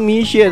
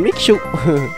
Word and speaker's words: Misha: Jadi bacanya itu Misha, teman-teman, bukan Mixu.